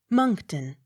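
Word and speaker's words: Monckton: n c k monk m o n c k t o n moncton accent on first syllable m o n s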